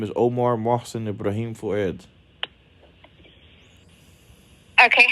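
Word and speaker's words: Fouad: for you um what is your last name fued my full name is Omar mson ibraim fued okay how do you say your last name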